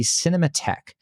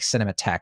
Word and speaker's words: Cinémathèque: So it's spelled, for those of you listening, cinema, the typical way, cinema, THEQUE. So I think you say like Cinémathèque, but I'm not sure.